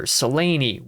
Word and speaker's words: Seleni: Cassandra, Laurian, Alloran, Alexander, Seleni, yes, with three syllables.